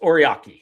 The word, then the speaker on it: Ory: Alex Ora orai, is that how you say it? Alex Ory.